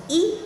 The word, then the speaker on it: 一: the one thousandth time in this case e changes tone to the fourth tone when it's followed by